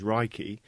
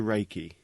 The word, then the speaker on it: Reiki: meaning universal life force although the proper Japanese pronunciation is raiki it has been westernized to Reiki Ray means Universal omnipresent present everywhere at the